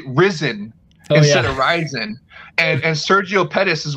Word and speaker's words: RIZIN: for me to hear to keep hearing risen instead of rising it's like why why are you not saying it correctly and you know the